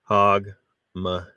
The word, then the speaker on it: Hogmanay: as New Year's Eve in Scotland it's hogman pronounced hogman the celebration involves fireworks Lively Street parties several